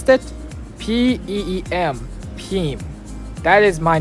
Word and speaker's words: Peem: And my nickname is Peem. Can you pronounce that? P-E-E-M.